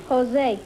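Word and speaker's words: José: Is that the way you pronounce it, Josie? No, Jose.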